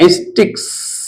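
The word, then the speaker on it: sticks: आगे हम लोग एग्जांपल लेते हैं, स्टिक, STICK, एस जोड़कर प्लूरल बनाते हैं, उसका उच्चारण होगा या एस का इस 100 के समान होगा स्टिक्स, स्टिक्स। स्टिक्स, स्टिक्स माने छड़ियां या फिर डंडे।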